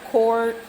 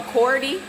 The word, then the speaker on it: Coredy: It's called a cord. Let me say it right. Hold on. There we go. A Coredy.